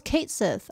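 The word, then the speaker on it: Cait Sith: to play 12 actually cat Sith how do you say that name oh it's Kate Sith I've always said Kate like Caitlyn you've seen Bugan Heen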